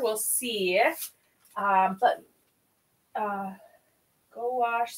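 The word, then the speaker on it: gouache: see um but uh go wash say quickly blend it as one word go oh goh say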